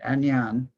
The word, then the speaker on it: Ainane: Yes, that was, they pronounce it Agnan.